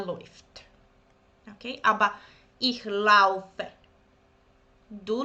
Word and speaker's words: läuft: So the combination of these two, it's oi. Du läufst, er läuft.